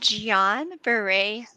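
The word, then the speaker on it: Guillain-Barré: many different ways so we will let you pronounce it for us yeah so it is called gian beret syndrome and it's typically triggered by like a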